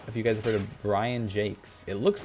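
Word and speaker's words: Brian Jacques: look it up and he does pronounce it Brian Jake's which is very interesting he writes or wrote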